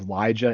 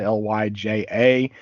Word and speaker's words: Lyja: I'm not caught up on Fantastic Four, but we have the return of I pronounce her name as Lyja, Lyja.